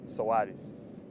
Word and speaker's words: Soares: it's uh pronounced sawatis a little bit of brazilian twist to it portuguese to it yeah do you probably